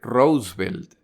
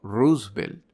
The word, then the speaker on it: Roosevelt: pronunciación de este nombre se debería decir rosevelt no Roosevelt pero el nombre de